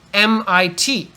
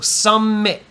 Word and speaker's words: summit: me can you hear I start to make the T shape with my mouth but then I stop all the air coming out of my mouth so don't go MIT no need you can say me you stop the air and like by stopping suddenly I can hear that it should be a t so Summit there's only one M